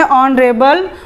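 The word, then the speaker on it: honourable: ऑन ये एच हो जाता है साइलेंट, तो हम इसे क्या पढ़ें? ऑनरेबल।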